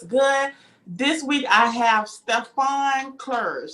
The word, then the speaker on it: Stephane Clerge: this week i have stefan clerge did i say that right yes you did thank you so sophisticated